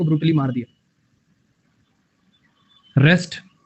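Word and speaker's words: wrest: रेस्ट आर ई एस टी वाला रेस्ट नहीं डब्ल्यू वाला रेस्ट।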